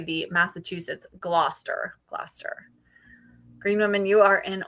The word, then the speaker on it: Gloucester: Glaster Green Woman, you are in Oregon.